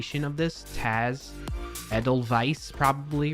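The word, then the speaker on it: Edelweiss: Edelwise like in German the W German German in other language right W is pronounced like V so edel vice ta t t t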